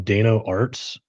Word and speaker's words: Dano Arts: We're bringing on Dano Arts. If you look him up on Instagram or TikTok, it's spelled DAYNOARTS, Dano Arts.